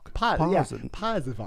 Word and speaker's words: Pasewalk: Pasewalk.